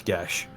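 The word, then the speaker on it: Geas: Also, it's Gash. Yeah, sorry, I say it wrong. Geese! It's cause it's Celtic.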